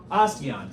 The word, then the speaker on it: osteon: That's a, starts with an O, rhymes with bastion. Osteon.